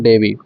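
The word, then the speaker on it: Dewey: इसका उच्चारण कहीं कहीं डुई भी हो जाता है, तो इसका ध्यान रखेंगे।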